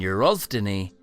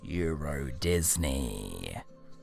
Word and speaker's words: Euro Disney: Turns out they read the sign wrong, and Eurosdeny is actually pronounced Euro Disney.